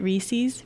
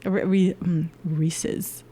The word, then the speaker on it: Reese's: I've always said Reese's. I never thought about it until someone... So like the other day, someone stopped me and was just like, why do you say it like that? I'm like, what do you mean? Reese's. And they're like, it's Reese's. Like it says it. It's like Reese's Puffs, like on the commercial.